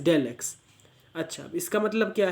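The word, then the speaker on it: ∂x: और इसको बोलते हैं डेल x, मतलब चाहे ऐसे स्मॉल डी एक्स लिखा हो या फिर ये सिंबल दिया हो, इसका तो मतलब ही डेल है, आप इसको प्रोनाउंस करोगे एज डेल एक्स।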